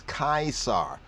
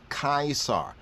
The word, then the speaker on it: Kaisar: look right here and in the Greek times he was known as kaisar kaisar see we start to have the right pronunciation of it things are gonna click